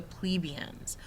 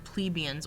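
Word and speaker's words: plebeians: them then under them were the plebians most people in Rome were plebians or plebians you can pronounce it either way the farmers Merchants Traders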